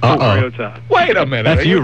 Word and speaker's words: Mariota: the name, and others, want the more traditional pronunciation. But Marcus himself, he is the most important person in this. Says Mariota.